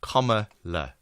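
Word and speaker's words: Kamala: out it's just a picture of comma and then L A that's how you pronounce the name Comm La comma Harris your weather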